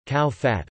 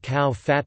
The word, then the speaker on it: ข้าวผัด: Thai fried rice, Thai, ka fod rtgs, cow fat, pronounced ka circumflex w piet or ka piet, is a variety of fried rice typical of central Thai cuisine.